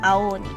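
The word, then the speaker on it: 青鬼: But to make it easier to say the word, we still join the vowels together and pronounce it as an elongated sound, Ao Oni.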